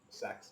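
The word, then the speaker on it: Cex: The song is by the artist Sex, but it's spelled C-E-X.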